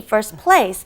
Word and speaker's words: first place: When you try to say it fast, we pretty much take out the T, first place.